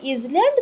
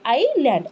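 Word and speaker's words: island: द्वीप समूह माने आइलैंड एथिरे कौन पिले कोटा साइलेंट रहउची को वर्डटा एस वर्डटा साइलेंट रहउची आमे केबे इजलैंड सेटा कहबा नाही सेरे कौन कहा जाए आइलैंड आईटा तो समस्त आमे उच्चारण करि परिबा प्रोनाउंस करि परिबा तापरे हेला लैंड आइलैंड नॉट इजलैंड okay ताहले आमे 6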